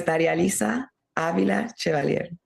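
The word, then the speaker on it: Darializa Avila Chevalier: My name is Daria-Lisa Avila-Chevalier, and I'm very grateful to you, Amy, for allowing me to do that.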